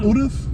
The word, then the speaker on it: Urus: You said it wrong from the beginning too. Urus? It's Urus. This is how you say it.